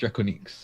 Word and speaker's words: Drakoniques: I still pronounce it Draconics, but yeah, it's technically properly pronounced Drakoniques.